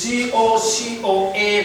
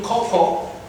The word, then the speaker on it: cocoa: When it comes to the word cocoa, it is C-O-C-O-A. They say cocoa. Now, A again is not sounded in cocoa. It is cocoa, not cocoa.